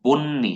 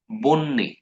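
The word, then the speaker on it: বহ্নি: এগুলার মধ্যে এই যে এগুলাতে একটু প্যাচ লাগে, যে বন্যি, হ্যাঁ, এই যে হ আর দন্ত ন একসাথে আছে, তো এটা উচ্চারণটা আসবে বন্যি, বন্যি। ব্যাঘ্র, এই যে ব্যাঘ্রহণ কল্ল এরকম একটা ইয়ে ছিল না, স্টোরি ছিল না ছোটকালে।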